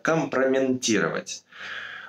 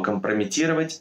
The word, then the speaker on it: компрометировать: слова номер семь компрометировать слова компрометировать часто вставляют букву н произноси это как компроментирует запоминаю слова компромат он же ведь у вас компромата не комплимент поэтому мы пишем слово компрометировать без буквы слова номер восемь гостиная